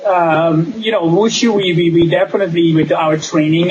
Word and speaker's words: Wushu: And you said that with your teaching of Wushu, do I pronounce that right?